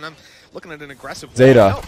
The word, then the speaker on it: Zeta: looking at an aggressive Zeta. No, it's pronounced Zeta.